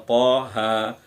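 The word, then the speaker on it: طه: Nah, ini bacaan to-nya, ini huruf to dan huruf h. Kita baca sesuai namanya, Toha. Panjangnya juga cuma 2 ketukan. Toha.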